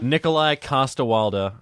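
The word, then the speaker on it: Nikolaj Coster-Waldau: Nikolai Costa-Waldau.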